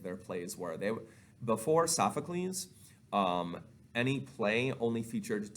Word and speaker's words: Sophocles: and then there is sophocles the playwright so sophocles is how you say his name and he